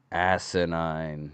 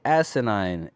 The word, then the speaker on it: asinine: Asinine. What's the word of the day? Asinine.